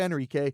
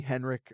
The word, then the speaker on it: Henrique: I'm going to start going by Enrique. Now, I don't mind if people call me Henrik or Henrique or Henrique. Those are all correct pronunciations. It's just my preferred pronunciation is going to be Spanish.